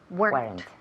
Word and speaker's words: weren't: there weren okay there weren't weren't weren't one Sy yes one syllable remember one syllable there weren't wer there